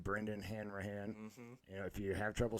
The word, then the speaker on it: Hanrahan: It's under your name, Brendan Hanrahan.